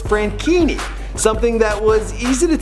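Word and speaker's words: Franchini: for a pretty simple reason his name is pronounced frankini something that was easy to tell by the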